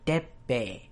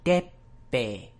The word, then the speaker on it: Teppei: have to introduce a new concept in Japanese pronunciation that I haven't really gone over before in these. So his name is Sasaki Teppei. Sasaki Teppei.